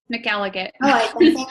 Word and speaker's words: Mallate: in Fort Collins Colorado how do you say your last name mallate that's why I said it because I figured people didn't know cool okay thanks Tina